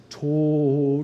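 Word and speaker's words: Tod: um the soprano sings tor which rhymes with note but death in this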